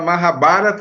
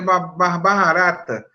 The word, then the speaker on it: Mahabharata: sou péssimo impronúncia né eu apresentei logo no início o evento falar mahabharata eu falei uma barata eu sempre bichos ou